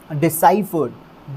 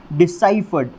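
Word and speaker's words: deciphered: Word की वो होगी डिसाइफर्ड। डिसाइफर्ड। और ये नीचे लिखा हुआ है डिसाइफर्ड। डिसाइफर्ड, पीछे ईडी लग जाएगा, वर्ड स्ट्रेस स वाली साउंड के ऊपर रहेगा और ये लाइट यहाँ पर आ जाएगा। डिसाइफर्ड, डिसाइफर्ड, डिसाइफर्ड।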